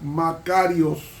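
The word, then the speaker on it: μακάριος: el adjetivo Bienaventurados en el griego bienaventurado se pronuncia macarios cuando es en plural se pronuncia Macario ahora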